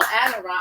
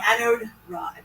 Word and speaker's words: anode rod: did I say it correctly? I'm not sure. But You were a little that's too running. Yeah, it's anode rod, Anode rod.